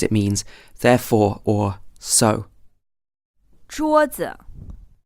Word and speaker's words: 桌子: 桌子 Again here the second syllable is unstressed, so we simply say 桌子 and we don't emphasize the second syllable at all.